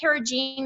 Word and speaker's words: carrageenan: It has carrageenan in it. Is that how you pronounce it?